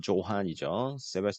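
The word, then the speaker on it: Johann: 유명한 독일의 음악가였던 요한 이렇게 발음이 요한이라고 하는데 원래 유럽 발음으로는데 영어식 발음으로는 조한이죠.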